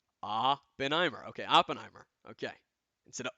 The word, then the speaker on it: Oppenheimer: I not pronounce it right did I not pronounce it right Oppenheimer okay Oppenheimer okay inste of opener the black half comes out when he hit